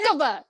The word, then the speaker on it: Hecava: Heck of a, like that's one heck of a, that's one heck. Hecava.